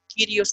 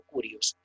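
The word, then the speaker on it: κύριος: igual, siempre que digan quirios o curios, porque es decir, no me le quiten el acento que está específicamente en la upsilon. Curios o Kyrios, Señor.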